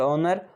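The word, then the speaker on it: honour: Wrong, wrong में W silent होता है, और ऑनर, ऑनर में एच साइलेंट होता है।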